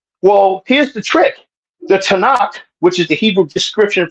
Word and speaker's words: Tanakh: So Tanakh is how that's pronounced.